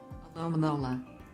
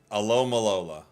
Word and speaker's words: Alomomola: Alomomola. Oh, wait. Alomomola. Alomalola. Alomalola. Yeah? Alomalola. That's gotta be it. I think Alomalola.